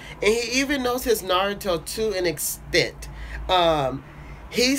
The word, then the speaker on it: Naruto: I get triggered when people say Naruto's name like that. It is not a complicated name. It is not a 10-syllable word. It is Naruto.